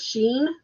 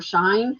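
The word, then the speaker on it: Shein: of the top 10 there's Sheen or shine however you want to pronounce it s he i n it's very popular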